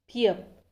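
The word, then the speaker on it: 비읍: Next पियप।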